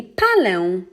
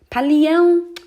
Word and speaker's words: palę: So we will remove the I, and the final verb will be palę. That's because when you're trying to pronounce palię, it lacks this Polish sound, okay? Palę. Palię, it doesn't sound correct.